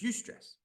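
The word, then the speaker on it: eustress: with an E and A U and it's pronounced U it's UST stress now most of us have heard of that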